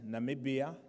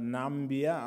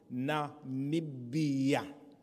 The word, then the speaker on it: Namibia: I will present Namibia, not Nambia, others are struggling to pronounce it. It is called Namibia.